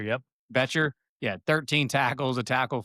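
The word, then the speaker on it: Bryce Boettcher: Betcher. Yep. Betcher.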